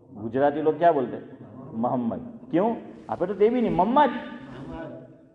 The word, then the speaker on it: محمد: محمد زبر میم پر یا پیش؟ پیش. لیکن آپ نے بولا محمد زبر، آپ نے جو تلفظ کیا حنیف بھائی، آپ نے محمد بولا ہے، تو یہ آپ نے صحیح بولا ہو لیکن آواز ایسی آ رہی. یہ محمد ہے میم پر پیش، لیکن ہم لوگ گجراتی لوگ کیا بولتے ہیں؟